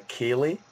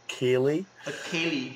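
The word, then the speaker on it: ceilidh: time what we have is something called a kaylee which is that going to be hard for you to pronounce a kaylie um this is yes exactly kaylee so this is where um we do something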